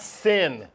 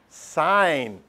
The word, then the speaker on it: sin: one's called Co and this one's called s not sin especially not here at Catholic school gez come on sign because it's a short form I know it's spelled sin but that's the shortcut